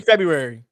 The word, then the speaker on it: February: January's easy you mean February both of them because Fe people forget like it's a r after the B why is Jan again